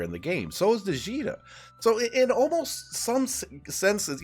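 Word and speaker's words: Djeeta: She is an incredible single target damage character, and you also have Jita, I think the D is silent, so I never heard it pronounced, but you also have Jita, who is a really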